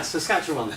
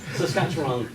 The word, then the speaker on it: Saskatchewan: Dennis, can you pronounce that? Saskatchewan? Yeah, Saskatchewan. Brilliant. Saskatchewan.